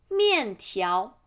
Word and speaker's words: 面条: And fried doll stick, 油条 second tone, 油条 And noodle, 面条面first tone, 条 second tone, 面条 Steamed dumplings, 小笼包 Box